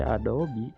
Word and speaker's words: Adobe: itu pakai Adobe Premiere Pro Robby Yes engkau dibacanya sih Adobe tapi How to sneha double gue lebih suka